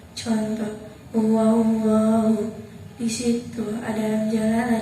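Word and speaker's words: اللهُ: Pengertiannya apabila ada lam jalalah didahului huruf yang berharokat fathah atau dhamma, maka cara bacanya tebal. Contoh, Allahu.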